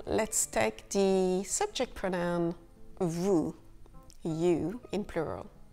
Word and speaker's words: vous: For example, let's take the subject pronoun vous, you in plural. Vous, V-O-U-S, with a silent S.